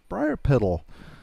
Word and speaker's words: Briarpetal: All right, so here we have Briarpetal. She is a... How do you pronounce that?